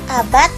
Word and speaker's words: abad: Dalam lafal bahasa Indonesia itu berakhiran huruf T. Tekad, abad, akad, babat, jihad.